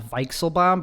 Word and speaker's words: Weichselbaum: team viking bomb show it's actually pronounced visual bomb because it's german and so people don't